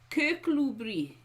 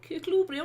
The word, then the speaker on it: Kirkcudbright: Kirkcudbright. There we go. Kirkcudbright, or rather, Kirkcudbright.